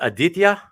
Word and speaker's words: Aditya: this one but yeah would I would I in my best Americanization be saying it correctly to say his name is Aditya yeah okay on the first syllable okay I think okay